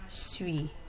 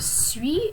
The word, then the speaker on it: suis: Notice also that because the word étudiant begins with a vowel sound, the S at the end of suis is pronounced. Je suis étudiant.